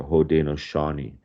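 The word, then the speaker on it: Haudenosaunee: the long house uh they pronounce their name the hos Shani okay and you know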